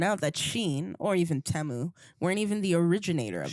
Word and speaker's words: Temu: And Tamu. Okay. Thought it was like a drug dealing thing. Temu, yeah.